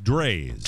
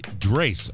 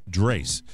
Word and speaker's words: Drace: I love an Amazon enthusiast named Rick Drays. Ooh. Drace. I'm sorry, not Drays. Drace. Rhymes with space.